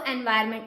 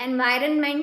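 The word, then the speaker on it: environment: बोलते हैं इसको एनवायरमेंट। एनवायरनमेंट नहीं बोलते ना हम इसको बट इसकी स्पेलिंग में एन आता है। ये आपको याद रखना है।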